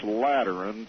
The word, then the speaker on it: Lateran: Vatican that's right right by terms of this lateran treaty did I pronounce that right you did absolutely correctly so